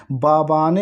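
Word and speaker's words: Mbabane: है स्वाजीलैंड की राजधानी बाबानी होता है जिसमें मस साइलेंट होता है दोस्तों यह भी याद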